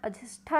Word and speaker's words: अजिष्ठा: यहीं पर अजंता से 2 मील की दूरी पर अजिष्ठा, ये इंपॉर्टेंट है, अजिष्ठा नामक ग्राम है जिसका मूल या शुद्ध उच्चारण अजिष्ठा है।